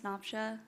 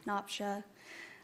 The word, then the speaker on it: Napsia: Uh, my name is Noopsha. It's Napa.